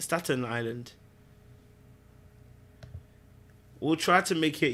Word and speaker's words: Staten Island: I thought it was Stanton Island. It's not Stanton Island. It's Staten Island.